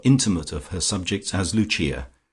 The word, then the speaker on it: Lucia: of her subjects as Luchia, pronounced, of course, in the Italian mode luchia, the wife of Lucas.